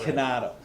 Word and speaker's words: Chinato: how do you pronounce it? Canato.